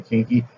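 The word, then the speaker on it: Quinqui: I'm just pronouncing it that way. It's Q-U-I-N-Q-U-I, so I'm just going to say Kinky.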